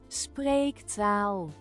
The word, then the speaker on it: spreektaal: No, it's taal, not town. Taal. Spreektaal. Spreektaal.